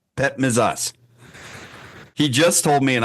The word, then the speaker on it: Petmezas: Pet misas. Pet misas.